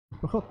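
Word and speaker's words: משפחות: Mis, y en plural, mis, mispajot, ¿verdad?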